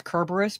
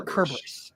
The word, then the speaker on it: Cerberus: Yeah, so it's kind of like when I pronounce Cerberus, people are like, no, it's pronounced Cerberus. I'm like, technically, in ancient Greek, there's no s sound. Yeah. In that regard, it'd be a Cerberus.